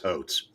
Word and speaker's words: Hotz: Based off of this alone, what I've seen of Kelly Hotz, I do like this. Okay, Kelly, it's pronounced Hotes.